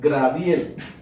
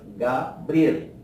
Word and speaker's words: Gabriel: Evitar pronunciar palabras como por ejemplo, hay personas que dicen Graviel. Se entiende el nombre, pero está errado porque la palabra correcta es Gabriel.